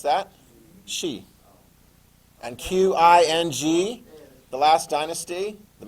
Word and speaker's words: Xi'an: see the Q or you see the X and just go shh.